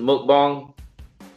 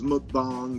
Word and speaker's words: mukbang: that the correct pronunciation moat bong it's a Korean term so I think a